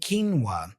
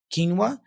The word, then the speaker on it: quinoa: difficulty take a look the foreign origin of the word and the pronunciation ofq as a k like Q as a k many people try to pronounce q as in other languages like AQ you know which is incorrect resulting in something like qu